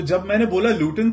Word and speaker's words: Luton: लूटन में रहता हूं लूटन की स्पेलिंग है एल यू टी ओ एन तो आई सेड इड लूटन अब यहां के जो नेटिव लोग हैं वो ज्यादातर टी को प्रोनाउंस इस तरीके से नहीं करते लूटन वर्ड के अंदर तो